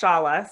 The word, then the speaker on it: Shola: uh yes so um my name is pronounced shala so i'm sorry yes